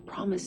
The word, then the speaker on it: promise: 프라미스 하실 때 파미스 하시면 되죠. 파미스야. 프르 발음 한 번에. 그다음에 PR 발음은 약간 쉬운 요령은 그냥 알 빼고 하셔도 된다고 했어요. 파미스 하셔도 돼요.